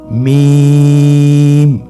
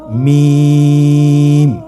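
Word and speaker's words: ميم: মিম হরফটি উচ্চারণের ক্ষেত্রে অবশ্যই বারিক হবে, পাতলা হবে এবং 3 আলিফ টেনে উচ্চারণ করতে হবে। আমার সাথে আরেকবার চেষ্টা করুন। মিম। আবার বলুন মিম।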